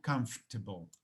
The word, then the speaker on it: comfortable: cuando se escucha porque ellos no pronuncian esta sílaba. Ellos llegan hasta la F y después arrancan con table. Entonces dicen algo como comfortable, especialmente en inglés británico, que significa cómodo, no confortable.